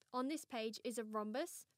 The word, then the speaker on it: rhombus: this page is a rhombus pronounced with a silent H this is a circle